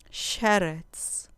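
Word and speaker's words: שֶׁרֶץ: Sheretz, sheretz, con acento en la penúltima sílaba.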